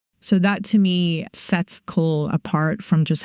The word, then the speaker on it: kohl: The kohl, as it is referred to, can be prepared at home.